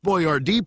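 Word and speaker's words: Boyardee: Uncle Hector wanted to make sure that people pronounced his name properly, so he had it hyphenated to B Y- A- D E. By 1941, Chef Boyardd products were national, but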